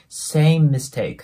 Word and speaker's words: same mistake: ですなので same MIST クっていう感じで 2 回言うんじゃなくて same mistake ていう感じで M の音をそのまま使うイメージになりますなの